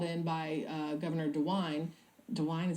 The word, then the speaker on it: DeWine: Guard that was called in by Governor dewine dewine is how you say his name he's the